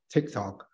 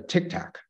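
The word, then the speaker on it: TikTok: were asking questions about tick tock they couldn't even pronounce text out correctly and they pronounce uh pronounce it as a Tic Tac which is uh as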